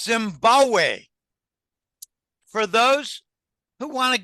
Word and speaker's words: Zimbabwe: He said, no, Zimbabwe. The second B in Zimbabwe is silent. It's Zimbabwe.